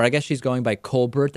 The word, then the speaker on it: Colbert: guess she's going by Colbert I'm not sure how she's pronouncing it in ton uh I think she's saying Colbert Bush yeah she's not doing that fake french thing that Steven does in any case she